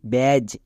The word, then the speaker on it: badge: BADGE, ব্যাজ। এবার এখানে দেখো ডি সাইলেন্ট, কেন? কারণ ডি এর পরে জি থাকলে বা জি এর আগে ডি থাকলে ডি সাইলেন্ট, মানে ডি এর উচ্চারণ হবে না। যেমন দেখো BAGE, ব্যাজ, ডি এর উচ্চারণ হচ্ছে না।